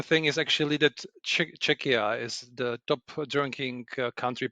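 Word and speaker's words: Czechia: So, Ludic, you're you're from Chetchia, I believe. Is that how you pronounce it? No. Czecha Czecha Czecha because your your pronunciation is similar to Cheschna which is much more uh to the east actually.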